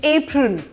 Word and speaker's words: apron: लेकिन इसको कोई कुछ भी कहता हो, APRON इज एप्रन, इट्स एप्रन। Wahid pronunciation इसकी है एप्रन।